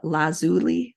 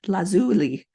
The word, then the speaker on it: lazuli: Carnelian turquoise amethyst agot lapis lazel La I had to look this up how to say it lazuli lazuli and Jasper clear quartz